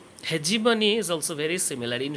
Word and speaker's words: hegemony: concept of hegemony or some people pronounce it he gave money hegemony is also very similar